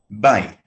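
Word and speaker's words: בית: the word for house bite notice the stress on the first syllable no big deal she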